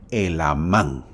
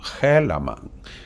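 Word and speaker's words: Helamán: así se debe pronunciar en el español El amán la H muda y termina en a con tilde por lo tanto el nombre es el amán así se debe pronunciar pero si lo quieres pronunciar como haman haman allá tú yo te estoy enseñando la manera correcta Ahora Y quién es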